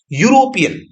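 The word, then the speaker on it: European: तो जो ये ई है, इसके आगे ये दो लगातार स्वर आगे हैं, इसके कारण यहां पर इसका जो उच्चारण है यू से हो रहा है, यूरोपियन, यूरोपियन, इसलिए यहां पे ए का प्रयोग होगा, है ना।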